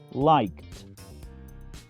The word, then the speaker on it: liked: Y este verbo, si bien termina en una E, su última consonante es sorda, la letra K, por lo que se pronuncia liked, como una T al final, en pasado o participio.